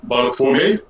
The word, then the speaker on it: Bartłomiej: Well, to pronounce it correctly in Polish, it's Bartłomiej, but if you look at this name from English perspective...